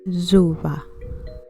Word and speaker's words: Zuba: One common word or expression is Zuba, which is usually spelled and pronounced with a Z sound instead of an S in many Bantu-derived languages, as in Zuba.